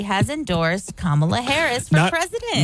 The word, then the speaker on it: Kamala: And finally, in what surely comes as a heartbreaking disappointment to Donald Trump, Insane Clown Posse's Violent J has endorsed Kamala Harris for president.